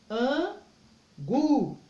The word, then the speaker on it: angu: Então, todas as vezes que a palavra, a última, for a mais forte, como angu, angu, quer dizer que a última sílaba é mais forte.